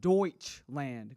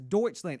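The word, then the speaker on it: Deutschland: the last time Greg it's pronounced Deutsch land Greg you keep saying something else all right did you go to doled Door you keep saying something else it's deuts land and Greg I'll have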